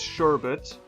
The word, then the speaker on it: sherbet: I'm pretty sure if it's spelled the way it is here, it's sherbet. Sorbet would actually be spelled S-O-R-B-E-T.